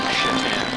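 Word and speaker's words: Šatan: Now, we're happy to report that you don't pronounce names the same. Because I'd have a hard time doing play-by-play with that name if it was the North American pronunciation. It is Miroslav Shatan.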